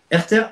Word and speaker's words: Herter: Ça s'écrit comment, Agnès Serter, Herter? Herter, H-E-R-T-E-R.